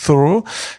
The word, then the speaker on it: Thoreau: Là aussi, je prononce à la française, parce que le Thoreau, je le fais assez mal.